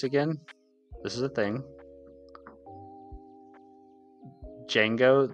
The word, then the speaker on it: Django: Django. The D is silent. Oh, sorry. Django.